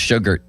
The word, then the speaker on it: Shugart: And also, Chase Sugart. Is that how I should say his name? Shugart. Same thing, Limits. At least I thought it was Shugart when he pitched for the Pirates. Well, now it's Sugart.